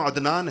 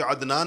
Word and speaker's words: عدنان: ہم تلفظ نہیں کرتے۔ مثلا میرا نام عدنان ہے، لیکن آپ میں سے کوئی بھی مجھے عدنان نہیں کہے گا، عدنان کہیں گے، حمزہ سے کہتے ہیں سارے کے سارے لوگ۔ تو عدنان تو حمزہ ہے یہ۔